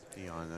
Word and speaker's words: Dejan: The I believe the correct pronunciation is Dejan. Dejan, okay. But his friends call him Dean.